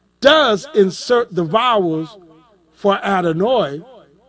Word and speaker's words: Adonai: insert the vowels for adenoid i know some people say adonai but no it's in the hebrew it's adenoid and that means lord or